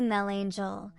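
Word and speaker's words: Melangell: replied oh most worthy Mel Angel which is the way the Welsh pronounce monacella because on account of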